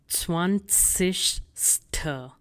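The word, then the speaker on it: zwanzigste: And the pronunciation is 20ste.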